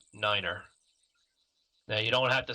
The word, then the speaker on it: niner: And 9 is said as Niner.